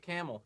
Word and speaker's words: Kamel: say your last name is it camel i go with camel all right thank